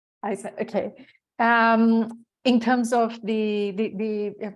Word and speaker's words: Isa: No, I just wanted to comment on what Isa, sorry, I don't know how to pronounce her name, was saying Isa, about like Isabel. Isa, okay.